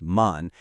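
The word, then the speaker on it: 万: It's pronounced man.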